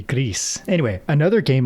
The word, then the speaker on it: Gris: great art is Gris which I always thought it was Gree like French Gree um gray but apparently it's Gris actually. Let me check that Gris game pronunciation. Um how do you pronounce the name? Oh, they're Spanish. It's a Spanish development studio. So if it's Spanish then it should be Greece.